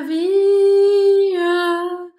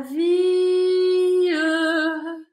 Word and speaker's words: vie: Para que caiba na música, ela pronuncia esse E da palavra vi. Vi significa vida. Normalmente a gente não fala o E, fala vi. Mas na música ela precisa de uma sílaba a mais.